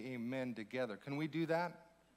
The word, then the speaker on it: amen: So in Hebrew, it would be pronounced more like amon, but it's amen.